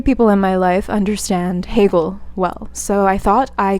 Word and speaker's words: Hegel: Bagel rhymes with Hegel. It doesn't. It does, too bad.